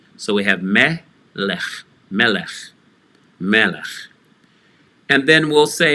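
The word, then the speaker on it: מלך: Melech, which is also starting with an open syllable in yellow and going on to a closed syllable, in this case, the lamed, underneath the vowel, Tsere, the three dots in a downward triangle, and again the chaf sofit for a glottal stop, lech.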